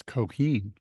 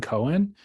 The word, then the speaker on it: Coheen: It's Coheen. I always called him Stephen Cohen, but Yeah, he said it in the interview, Coheen.